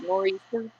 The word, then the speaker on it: nor'easter: because they got a northeaster coming in. How do you say that? Nor'easter? You don't say the T, but that's what it means, right?